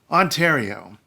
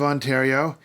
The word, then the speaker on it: Ontario: not the most popular ha-ha-ha province in Canada Ontario Ontario ariari Oh Ontario is named after Lake